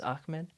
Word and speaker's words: Ahmed: because sometimes it's like even though it's h m e d it's ahmed but i don't know